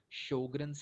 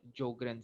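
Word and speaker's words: Sjögren: uh autoimmune disease is sjogren's syndrome or there is another pronunciation jogren syndrome so uh anything you want to say the most common is sjogren's syndrome sjogren's syndrome is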